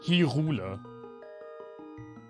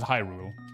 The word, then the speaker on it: Hyrule: i know always said he ruler um but in breath of the wild in the english version they actually pronounce it hyrule in the german dub